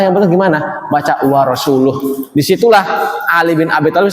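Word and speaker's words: وَرَسُولُهُ: Kata Umar, idza kana Allahu bari'un minallahi minal musyrikin wa rasulih fa ana bariun min hadal qari.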